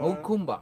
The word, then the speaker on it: Jacumba: I went to Hakumba. Hakumba. That's how you say it.